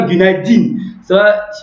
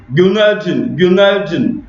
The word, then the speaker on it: Günaydın: Le CI là, c'est pas un vrai I, c'est pas Gunay Din. On le prononce entre cette lettre, elle est prononcée comme voilà, jaune comme ça. Voilà. Cette lettre là, elle se prononce entre le I et le U.